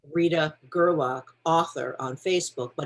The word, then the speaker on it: Gerlach: find you it's uh rita rita then it's gerlock it's g-e-r-l-a c-h and there's i believe there's